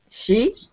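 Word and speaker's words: 十: When you see this little arrow goes up, it means it's a rising tone.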